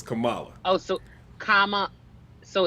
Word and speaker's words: Kamala: She said it's comma with a Allah at the end, like the word, like a comma in a sentence, and then so it's Kamala.